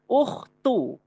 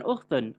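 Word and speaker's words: أخت: Membacanya ukhtu bukan ukhtun.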